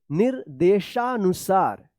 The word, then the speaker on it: निर्देशानुसार: नी के बाद इस रेफ की मात्रा का उच्चारण होगा, निर्देशानुसार। देखिए यहां पे प्राचीन ग्रंथालय की ओर प्रस्थान।